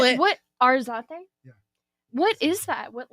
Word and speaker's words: Arzate: Just say the letter R and then Zate. Yeah. Yeah. Yeah. Arate. Boom. I mean, I know how to spell it. What? Arzate.